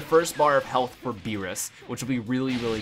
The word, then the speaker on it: Beerus: getting so confused about how to pronounce or even you know spell Lord beerus's name because he sometimes spelled like b i l LS as like bills but I'm pretty sure his name's not bills like it's beerus they